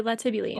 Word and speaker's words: latibule: the internet sometimes so I'm gonna say a lot of people l-a-t-i-b-u-l-e yeah like hyperbole tibuline all right so let's